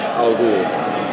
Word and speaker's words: Al: a way to insult R by calling him Ros cuz it's the mispronunciation kind of an insult to him but when you are the man or you're in the league you say Al would you like to